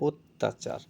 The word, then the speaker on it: অত্যাচার: জ ফালা যুক্ত আছে তাই এখানে আদ্য অ ধ্বনির পরে যদি কোন ব্যঞ্জন ধ্বনির সাথে জ ফালা যুক্ত থাকে তখন ও এর উচ্চারণ অ এর উচ্চারণটা ও এর মত হয়ে যায় অত্যাচার তাহলে এখানে দেখো ত